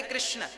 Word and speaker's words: कृष्ण: वेद मंत्र है ये शुद्ध उच्चारण इसका क्या है हरे राम हरे राम राम राम हरे हरे हरे कृष्ण हरे कृष्ण कृष्ण कृष्ण हरे हरे यह वेद मंत्र बोल